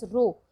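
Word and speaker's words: rho: This is pronounce as रो।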